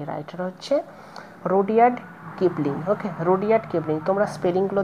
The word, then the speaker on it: Rudyard Kipling: Writer হচ্ছে রুডিয়ার্ড কিপলিং। ওকে, রুডিয়ার্ড কিপলিং। তোমরা স্পেলিংগুলো দেখে নেবে এবং উচ্চারণটা ভালো করে শুনে নেবে।